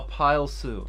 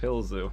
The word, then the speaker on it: Pilzu: Is it Pilzu or Pile Sue? It's Pilzu.